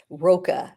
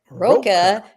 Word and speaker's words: Rocha: I'm hearing people mispronounce his name, and actually I've even heard people calling Alexis Rocha. It's like, Rocha? Like rhymes with mocha? No, for God's sakes, man.